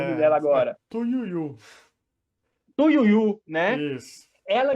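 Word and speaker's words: Tu Youyou: Tu Yuyen, vou saber pronunciar o nome dela agora. Tuyuyu.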